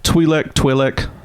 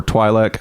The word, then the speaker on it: Twi'lek: Now you can call them Twilek, rhyme with twin, rhyme with tweed, or Twilek. I have heard that all 3.